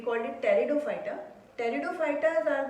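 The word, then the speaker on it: Pteridophyta: Piece में silent रहेगा. We called it टेरिडोफाइटा.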